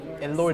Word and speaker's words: Elorde: I think it's spelled E-L-O-R-D-E. So I'm assuming it's pronounced eLord. Or Elorde. Elorde. Yeah. Oh, And okay. if that's a Philippine team, that's Elorde.